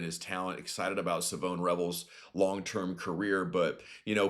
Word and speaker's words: Revel: Well, they spotted uh, Savone Revel's dad and he clarified exactly what the pronunciation of his and his son's name was, Junior and Senior. It's Savone Rebel.